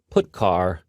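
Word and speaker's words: putchar: these three are the most popular they are pronounced printf put car and puts each function is designed to send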